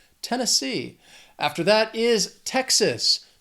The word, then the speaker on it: Tennessee: This state has 3 syllables and the stress is on that third syllable, that final syllable, Tennessee, Tennessee.